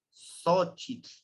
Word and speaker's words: xochitl: Bien, entonces, la X también es una de las grafías que a veces nos cuesta pronunciarlo, que es como el SH del inglés, que es el sh, ¿sí? Porque luego no decimos xochitl, decimos xochitl. Y no es como un S, es con el X se suena como es el de xochitl.